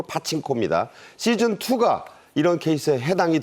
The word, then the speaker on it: 파친코: 본편이 나오고 있는 어 파친코 그러니까 빠칭코요 어 미국식 발음으로 파친코 시즌 2가 이런 케이스에